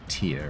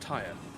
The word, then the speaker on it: Tyre: Most people will pronounce that tier, right? I have. In documentaries, I've always heard it pronounced tire.